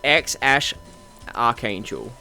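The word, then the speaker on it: X Æ A-Xii: how to pronounce it it seems to be x-ash archangel or x-a-i-i angel depending on which parrot you listen to so yeah his name is pronounced x-ash archangel because it's x which is the unknown variable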